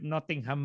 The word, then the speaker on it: Nottingham: at the University of Nottingham, Malaysia. Okay? Kapareho siguro ang Yung bigkas kay Robin Hood. Notting Hill at saka Nottingham. Pareho yung bigkas ng Notting doon.